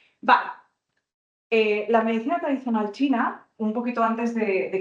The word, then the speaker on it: qi: El chi seguramente alguna vez lo habéis visto escrito que es se escribe qi el chi, que es la energía.